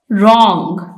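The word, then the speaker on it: wrong: letters के अल्फाज लिखिए रंग इसमें डब्लू साइलेंट है टॉक इसमें एल साइलेंट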